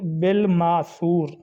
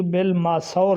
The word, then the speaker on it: بالماثور: لفظ آج کے ہیں، تفسیر بالماثور، تفسیر بالماثور، سا کے اوپر پیش ہے، جبکہ کچھ لوگ اس کو تفسیر بالماثور کہتے ہیں، یعنی سا پر زبر